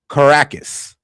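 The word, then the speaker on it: Caracas: It's pronounced Caracus.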